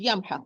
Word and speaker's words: يمحق: When I pronounce this word, I have to pronounce each letter alone. I will start, for example, with the ya, as a word is yamhaq. Well, it's a letter before. Ya with fatha.